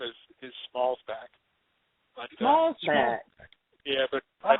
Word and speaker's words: Schmalzbach: know my last name last name is is Smalls back but small yeah but I tell people when they say well how do you pronounce that I usually tell them Bob Bob